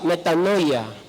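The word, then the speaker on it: μετάνοια: dice la Biblia en en el idioma original de la palabra arrepentimiento en el griego se pronuncia metanoia arrepentimiento y sabe qu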